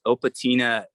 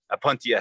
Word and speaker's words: Opuntia: Oh, this is the Opatina Patchopus. Okay. It's actually Opatina or Opatina. I always say it wrong. Upatini. How do you say it? Opuntia? Apuntia, yeah.